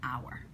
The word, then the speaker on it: hour: sometimes you're gonna get tricky words like our that start with the consonant but they have that vowel sound at the beginning the sound is what